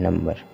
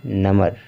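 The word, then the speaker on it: number: लेकिन क्या है कि अगर हम बी का उच्चारण नहीं करते तो हो जाता नमर क्या हो जाता नम ब नहीं नम हो जाता यानी कि सभी वर्ड जो दिया गया है सब में बी का उच्चारण हो रहा है नवंबर सॉरी नवंबर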